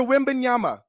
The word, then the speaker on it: Wembanyama: They're saying Britney Spears was allegedly smacked in the face by security guard of NBA star Victor Wembanyama. Did I say it right, Mark? Almost. Victor Wembanyama.